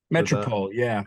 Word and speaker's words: Metropole: Speaking of composing, I was just reading that recently in Holland, you played with I may mispronounce this, the Metropole Orchestra. Metropole, yeah.